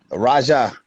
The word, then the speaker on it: Raja: Raja. Raja. Raja, like a Rasta man, like a Jamaican. Like a king. It means the king. Raja.